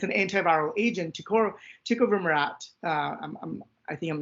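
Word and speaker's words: tecovirimat: smallpox and um and it's an antiviral agent tick over Murat I think I'm not saying it right um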